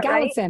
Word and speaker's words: Gallatin: I don't even know how to pronounce that city. Gallatin? Yeah, Gallatin.